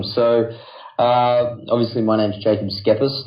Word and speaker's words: Schepis: So what do you say, Schepis?